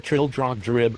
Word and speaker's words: Trildrogdrib: It contained a warrant for conducting me and my retinue to Traldragdub, or Trildrogdrib, for it is pronounced both ways as near as I can remember, by a party of 10 horse.